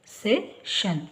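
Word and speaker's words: session: ಆಗಬಹುದು English next ಸೆಶನ್ ಸಾಮಾನ್ಯವಾಗಿ ಎಸ್ ಐ ಓ ಎನ್ ಬಂದಾಗ ಶನ್ ಅಂತ ಉಚ್ಚಾರ ಬರುತ್ತೆ ಸೆ ಈ ಗೆ ಎ ಉಚ್ಚಾರ ಸೆಷನ್ ಸೆಶನ್ ನಂತರ ನೋಡಿ ಇಲ್ಲಿ ಓ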